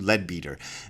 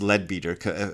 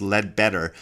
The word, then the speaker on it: Leadbeater: a guy named CW leadbeater and yes I it is pronounced leadbeater I I had for years thought it was pronounced lead better but in also in